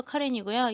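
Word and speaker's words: Karen: 카렌이라고 하는 건 영어식으로 읽어서 카렌이고요. 역시 미얀마 발음은 꺼잉이 됩니다.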